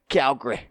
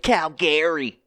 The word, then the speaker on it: Calgary: Calgary. Or some pronounce it Calgary. That's not how it's pronounced. But anyway, if you ask actual Calgarians, that's funny. Calgarians. But Calgary? No. It's Calgary.